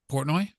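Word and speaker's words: Portnoy: Dream Theater poroi did I say it right poroi yes yeah okay he was going to hook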